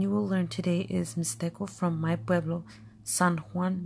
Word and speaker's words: Mixtec: mixed egg is pronounced me stick for us for from San Juan mixed up egg we don't pronounce it with the X sound mystic or me dick